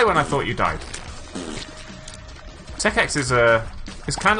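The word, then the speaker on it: Tech.X: I quite like Tech X, or Tech Point X if you want to say it wrong. I like the way Tech Point X rolls off the tongue, but it's completely wrong, so I'm not going to actually say it.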